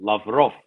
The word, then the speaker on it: Lavrov: I mean, Sergei Lavrov, Remy Govern emphasis is on the last syllable, Lavrov.